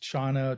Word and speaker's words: Chan: As Henry said, jhana became pronounced Chana, Chan, and then Zen.